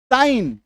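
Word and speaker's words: sign: लेकिन कई बार जी का उच्चारण नहीं होता है।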